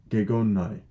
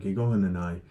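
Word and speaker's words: γεγονέναι: Gegonnai. Gego gig gig onenai. I pronounced it right the first time. Gegonenai.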